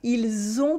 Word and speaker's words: ils ont: For now, just notice how the S at the end of il sounds like a Z sound at the end of it.